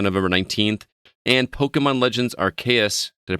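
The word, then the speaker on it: Arceus: both releasing on november 19th and pokemon legends rks did i pronounce that correctly cb rks yes uh releasing on january 28 2022 we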